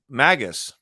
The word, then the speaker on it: Magus: that is uh so magus so the word is Magus here I can't see Magus has a hard G by the way unlike Magi which has a g that sounds